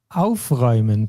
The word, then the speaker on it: aufräumen: And one that we didn't see that much is aufräumen, to clean up.